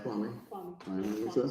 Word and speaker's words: Kwame: It's Kwame.